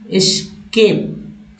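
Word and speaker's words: escape: तीसरा में सभी में लोग जो है एक्स का उच्चारण करने लगते हैं, एक्स एक्स ये जो है वर्ड्स उच्चारण में अपना लिया आता है जो कि गलत करते हैं।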